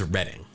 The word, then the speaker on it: Reading: I just want to make sure, and maybe you're right, but I'm pretty sure it's Reading.